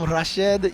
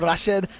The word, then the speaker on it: Rashid: be honest with you they also call him Rashid and I try to call him rashed you know rashed cuz that's that's technically I was told how you're supposed to pronounce I'm definitely not going